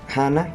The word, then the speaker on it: Hannah: lo que quiere expresar gana con este cántico hannah que realmente se pronuncia no se dice anna si se gana es que ella estaba